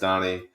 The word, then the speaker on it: Dani: It's actually spelled Danny, pronounced Donnie.